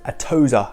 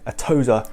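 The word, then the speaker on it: Atossa: the company's name is atoza i think that's how you pronounce it atozer therapeutics easiest way as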